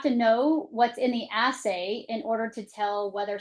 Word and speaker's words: assay: they test for is called an essay. Is that correct? An assay. Yes. Assay. And that's spelled as ss s a y.